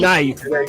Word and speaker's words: knife: What about knife? Where that K at? It ain't The knife. knife. Just say it.